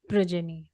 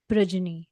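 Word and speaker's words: progeny: Is because of unwanted प्रजनी। एम I pronouncing it correctly? प्रोजनी यस।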